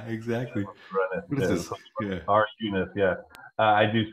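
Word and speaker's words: runif: I actually had to, I had forgotten what run if or I guess it's R unit is the way it's pronounced.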